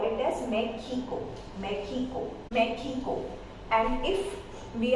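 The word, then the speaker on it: México: For word like Mexico, it's produced J sound, and J in Spanish is known as ho-tah. So it produces, we will call it as Mexico.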